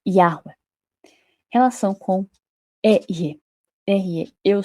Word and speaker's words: Yahweh: Provavelmente pronunciado algo próximo a Yahweh.